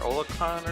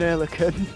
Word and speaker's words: Oerlikon: Yeah, they had like the 20mm Olicon or something like that. Ocaron. Yeah. I'm sure I'm butchering the pronunciation of that, but yeah. Yeah, it's an Oerlikon.